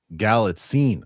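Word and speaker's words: Galitzine: Uh Maddie B Nicholas Gallitzin's last name is pronounced Gallitzin. Oh, there you go. Gallitzin.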